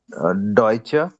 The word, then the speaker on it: Deutsch: Deutsche. Not Deutsche. Deutschland. No, no, no. It's Deutsch. Where do you see a at the end?